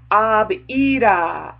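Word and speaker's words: Abiyda: And the word is abida. Abida. What? You like, what? What? It's abida. It's spelled A-B-I-Y-D-A, but it's pronounced ab-a-b, and then a double E, and then D-A-W. So it's abida.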